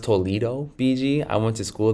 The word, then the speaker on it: Toledo: Oh, it's pronounced Toledo.